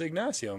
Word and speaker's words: Ignacio: did I say it did I say it wrong did you say ignasio be a Midwest no it's ignasio man I got a friend